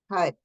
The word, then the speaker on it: Hud: the place it's set HUD h it's our projection HUD means God so we project that and the pronunciation the tongue is back of the teeth it's not anywhere else so all these things